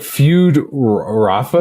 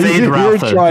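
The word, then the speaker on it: Feyd-Rautha: I was like, Feud Rafa? No, Fade Rafter.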